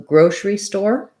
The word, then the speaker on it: grocery: We tend to reduce this and go right from our S or SH sound to our R sound. So grocery store, first syllable stress, or grocery store. So you don't want grocery or grocery, but rather grocery.